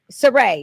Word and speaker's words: Surratt: Surratt. Yep. I want to put the T on there.